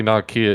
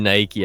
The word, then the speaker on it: Nike: i mean like technically nakia is correct but no one says that yeah it was not kidding ever literally no one's like imagine saying imagine saying nike as if it's one syllable yeah imagine imagine saying